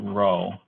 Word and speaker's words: rho: and put it in and then this one is row rho and of course this